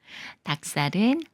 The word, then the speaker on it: 닭살: 되면서 박수로 읽는다고 했었죠 닭살은 박에 로 닭이 꾸며 주는 말이고 리을 기억 받침 중에 리은 생각 말고 기억과 시옷이 만나는 거라서 시 옷을 쌍시옷 소리로 읽어요 닭살 닭살 기억 받침이 지을 만나면